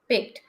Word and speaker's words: picked: to tell is that whenever we have e d at the end of any word we will not read it like this picked no d sound should not be that much it should go down you you make the sound as t rather than doing d so it will be